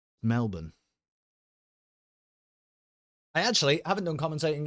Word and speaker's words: Melbourne: not supposed to you don't don't say it like a uh uh confused Englishman it isn't Melbourne nor has it ever been Melbourne Melbourne I actually haven't done